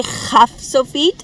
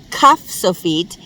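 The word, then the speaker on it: ך: And so we say Chaf Sofit instead of Kaf Sofit because the letter always sounds like a sound at the end of a word.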